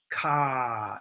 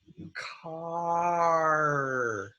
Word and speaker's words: car: It's not ka. It's car.